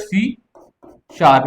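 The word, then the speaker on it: C#: गई और सी है इसको सी नहीं बोलते इसको बोलते है सी शार्प जो हैशटैग होता है इसको क्या प्रोनाउंस करते हैं तो ये कुछ पॉपुलर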